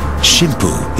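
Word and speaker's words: 神風: wind special attack core shim poo is a more formal way to pronounce the two characters that spell kamikaze pilots volunteer by the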